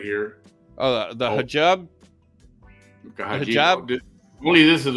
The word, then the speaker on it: hijab: I don't know what that's called, but when they cover their hair, that's called a hijab. I think I pronounced it right. Oh, yeah, you got it right. Hijab.